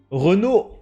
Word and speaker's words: Renault: Renault, you pronounce it the same way as like the car brand, Renault.